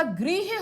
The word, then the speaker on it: गृह: लेकिन जो आपका गृह होता है, गृह मतलब होता है घर। यहां पर प्रोनाउंस देखिए, ग्रह, गृह, ग्रह, गृह, ये फर्क है इसमें।